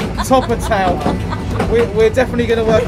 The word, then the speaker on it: Torpantau: So we've just reached the terminus of the station, and we think we know how to pronounce this. Torpantau. Is that correct, sir? Torpantau?